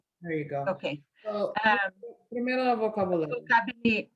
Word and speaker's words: vocabulario: So, primero el vocabulario. Vocabularia. Wait. I'm gonna back you up. We're still working on pronunciation here.